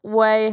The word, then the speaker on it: Ouai: say really quickly that i love whey hair care products it's spelled spell quirky spelled a little los angeles if you know what i mean it's spelled a different way than you would expect it's spelled o oh